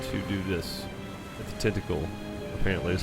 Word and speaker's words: Tintagel: With the tentacle, apparently is how you pronounce that.